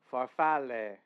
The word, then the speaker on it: farfalle: Farfalle. Okay. Thank you for correcting my pronunciation there.